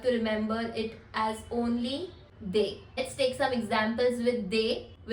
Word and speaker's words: des: indefinite article, which is they. They. They. They means some. DES is the word and THEY you can write it down as the pronunciation.